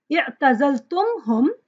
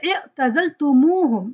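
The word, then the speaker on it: اعتزلتموهم: They add an extra pronoun wow to connect, so that it becomes easy for you to pronounce, right? Instead of saying i'tazaltumhum, you say i'tazaltumuhum.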